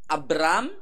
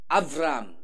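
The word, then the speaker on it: אברם: Ibrahim kata kita, kata orang Yahudi Avram. Sebagian logat Ibrani Abram, ada juga yang Avram. Jadi antara B sama V. Avram. Bacanya gitu, Avram.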